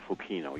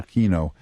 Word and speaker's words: Fukino: Is that how you pronounce the name? Fukino, yeah. Fukino.